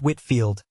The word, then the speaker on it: Whitefield: and other disagreeable consequences George Whitefield pronounced Whitfield 1714 to 1770 a